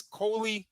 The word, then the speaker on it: Koley: I think her name is Coley is how it's pronounced, and that's how it's spelled.